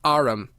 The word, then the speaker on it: arm: sure it's an arumirana he pronounced it Aram an arm you Goose